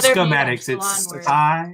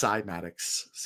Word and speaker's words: Cymatics: So it's not schematics. It's Cymatics. What'd you say, Tree?